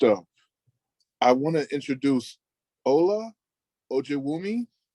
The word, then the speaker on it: Ola Ojewumi: So next up, I want to introduce Ola Ojewumi. Olajewumi. Hi, thank you for pronouncing my name perfectly correctly.